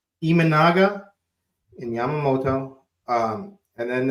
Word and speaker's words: Imanaga: on on the season and then imman wait pronounce it for me Keith so I get it in my head right imanaga imanaga in Yamamoto um and then it's like everybody